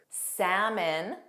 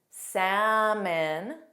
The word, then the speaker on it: salmon: Other common words are folk, folk, yolk, the center of an egg, yolk, salmon, salmon, Lincoln, kin, kin, Lincoln. So of course, the first L is pronounced.